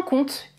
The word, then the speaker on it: compte: du verbe compter et je ne prononce pas le P en compte il compte même prononciation